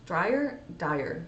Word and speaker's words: Wayne Dyer: He says, the late and great Wayne Dyer says, Dyer?